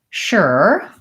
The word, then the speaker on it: sure: word sure fighters saying sometimes it sounds like the word sure other times like the word sure shirt without the T you're just gonna hear different people pronouncing this word differently I also will hear something more like sure with an oh sure I personally say the one that's sure like shirt and sure mmm you probably hear